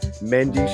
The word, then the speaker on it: Mendes: Mendes, it's pronounced.